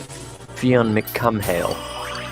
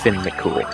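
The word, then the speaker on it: Fionn mac Cumhaill: say it exactly as it's spelled in English pronunciation, you would get Fionn McCumhale. Oh my gosh! But if That you're going sounds for horrible. a Gaelic pronunciation, then it's Finn McCool.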